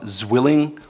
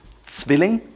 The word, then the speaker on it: Zwilling: It's not Zwilling or Henkels. It's Zwilling, like with a TS.